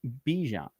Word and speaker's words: Bijan: And by the way, he does say it is pronounced Bijan.